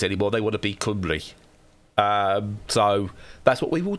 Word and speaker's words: Cymru: Cymru.